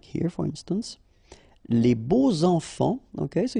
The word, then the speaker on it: les beaux enfants: Okay, so you make the liaison between beau, so adjective, and enfant. And here it's quite interesting because even if you've got this X, well, phonetically it will be like Z, so like if it would be an S, okay? Les beaux enfants, all right?